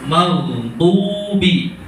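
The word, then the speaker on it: المغضوب: Kalau dot itu lidahnya tekanan suaranya di samping sini. Ya. Nekan ke gigi apa namanya? Samping gigi. Do. Do. Do. Do. Sehingga pengucapannya lebih mantap mana? Dot sama dal. Dot kan lebih kuat, lebih tebal ya.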